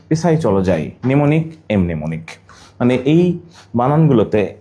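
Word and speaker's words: mnemonic: ওকে, নিউমোনিক বানান এম নিউমোনিক।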